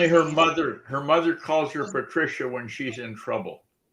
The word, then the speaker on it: Patricia: her name is pronounced Patricia.